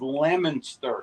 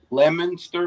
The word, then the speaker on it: Leominster: huge there I stand correct Omar says it's Leominster is that how you say it Leominster Massachusetts Massachusetts I can't talk this woman Leominster